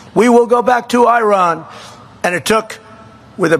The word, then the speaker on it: Iran: And the man said, no, we are going back to Iran. See, now I say Iran. I don't use because he obviously has a correct pronunciation. We will go back to Iran.